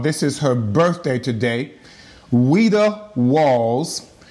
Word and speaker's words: Ouida: Ouida Walls. The Ouida is O-U-I-D-A. I will always have to clarify that it's French, so the O is silent.